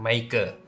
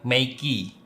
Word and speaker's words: Meike: Sebenarnya saya baru ingat bahwa pronounce-nya sebenarnya bukan Meike, tapi tepatnya Meiki. Mirip dengan Mickey Mouse, yang bisa jadi inspirasi dari nama merek ini.